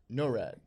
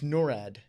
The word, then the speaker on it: NORAD: NORAD. We were saying NORAD. NORAD. It's NORAD. No rad. NORAD. NORAD. Nor, I mean, maybe- nor rad. You Maybe can not, Norad.